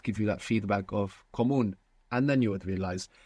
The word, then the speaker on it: común: Is it comuno? Comono. Común. Ah. So there's no way to know that. Comuno or común? Común. Común. Común with the accent on the end.